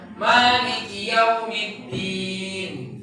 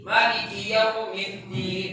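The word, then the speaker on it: مَالِكِ يَوْمِ الدِّينِ: Pendapat yang kuat yang kami pilih adalah ini sunnahnya dibaca panjang, sesekali dibaca pendek. Karena ada Nabi mencontohkan dengan dua cara baca ini. Ya, Maliki Yaumiddin, Maliki Yaumiddin, boleh dengan dua cara baca ini. Nanti disebutkan dalam beberapa tafsir para ulama berkaitan dengan cara baca ini. Ya, panjang boleh, pendek boleh, khusus untuk bacaan ini.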